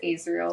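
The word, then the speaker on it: Azriel: off um I think technically his name is pronounced Israel but I always say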